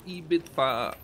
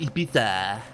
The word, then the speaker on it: Ibiza: Hey, how are we going to Ibiza? Oder wie es richtig ausgesprochen wird, Ibiza.